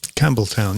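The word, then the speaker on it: Campbeltown: Nick, is that how we pronounce that? Campbelltown, yeah. And it has a P in it.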